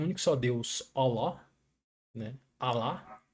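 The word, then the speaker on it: الله: Alá. Aqui a gente fala lá, mas a pronúncia é oló. É bem fechada. É como se tivesse um sapa na boca, sabe? Oló.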